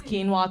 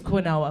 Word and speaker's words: quinoa: a rugula and like pronounce quinoa correctly without Googling it was quoa for me for the longest time God not in